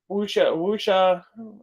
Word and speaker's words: wuxia: So the next one we got is Code of the Assassins, which is a wuxia.